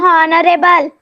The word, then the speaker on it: honorable: Ma'am ये बता वाली poem red Indian Ma'am, honorable. Ma'am, honorable. Honorable. H is silent there.